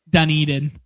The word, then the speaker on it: Dunedin: Dunedin. Dunedin. Yeah, I only know that because the Jays. I'm a fan of the. I'm a fan of the books. So, yeah, okay. we're calling it Dunedin.